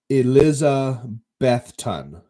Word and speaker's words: Elizabethton: position to squat so okay yes okay it's pronounced Eliza bethun okay Eliza Beth ten yes and then I got confirmed by Tony yes Elizabethton so that's down in Tennessee on the border